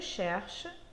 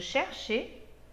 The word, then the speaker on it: cherche: Je cherche, tu cherches, il cherche. Nous cherchons, vous cherchez, il cherche. Observa que a pronúncia das três primeiras pessoas do singular são idênticas.